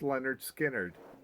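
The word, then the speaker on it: Lynyrd Skynyrd: hits a Leonard skinnard dropped pronounced Leonard skinnard in 1973 just full of surprises over there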